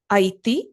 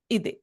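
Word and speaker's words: ಇದೆ: Aiti, this is the rural way of saying in Kannada. So the right pronunciation, grammatically correct word will be ide.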